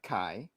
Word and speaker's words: Kai: that K and and did you say K's or Kai how do you say that oh it's Kai um K okay got